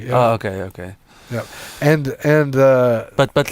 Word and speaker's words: TRIZ: true or some unpronounceable as you're saying trees but I think it when you read it there's a TR IC o---- triz okay and and but